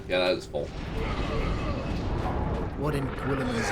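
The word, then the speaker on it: Guilliman: What in Gwilliman's name is that? Oh, was that how you pronounce that? I thought it was Gulliman.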